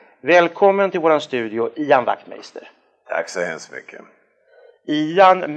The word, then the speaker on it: Wachtmeister: Wachtmeister, ska du uttala så? Ja, det ska du göra. Du kan säga att det uttalas på samma sätt som Skruvmejsel. Ja.